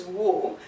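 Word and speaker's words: を: And one other special point about this, even though the pronunciation is wo, when you read it in some sentences, the pronunciation would sound like o also at times.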